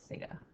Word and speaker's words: theta: So you're wondering how to like pronounce it, so theta, like that.